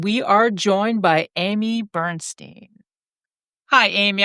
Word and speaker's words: Bernstein: Tonight we are joined by Amy Bernstein. Hi Amy, I sure hope I pronounced your last name correct. You got it. Got it right.